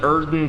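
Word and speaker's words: Oedon: And we get the Erden Tomb Key. Yes, believe it or not, that is how that's pronounced.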